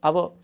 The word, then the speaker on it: hour: Next example, I will meet you in dash hour. So this word this word has one silent letter. H is here silent letter. We should not pronounce hour.